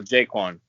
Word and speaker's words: JaQuan: All right, so JaQuan. Yes, Uh, sir. it's JaQuan, right? It's not JaQuan. You go. It's JaQuan, right?